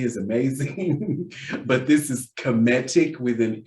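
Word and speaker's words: Kemetic: called comedic yoga a lot of people say kinetic yoga which is cool because kinetic energy is amazing but this is cometic with an m as they marry in the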